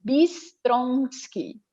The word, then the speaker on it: Bistronsky: Bistronsky. Bem do jeito que se escreve, só com Y no final.